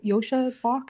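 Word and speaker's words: Joscha Bach: Uh there's even an email from the uh Yosha Bach, is that how you pronounce it?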